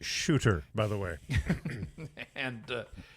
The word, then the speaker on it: Suter: the Vancouver Canucks here I believe it's pronounced shooter by the way and